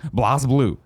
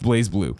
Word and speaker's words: BlazBlue: Works posted on Twitter their restrictions for streaming blossom Lew pronounced BlazBlue but you understand this an old beyond thing